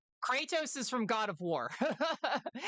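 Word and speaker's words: Kratos: Kattos. That's how they say his that's how his name is pronounced in in the game.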